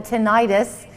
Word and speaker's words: tinnitus: So first of all, I think I used to be in the camp, by the way, from a pronunciation standpoint, who called it tinnitus.